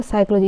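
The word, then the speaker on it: psychology: इसका अर्थ होता है साइकोलॉजी। इस पर पी साइलेंट रहता है।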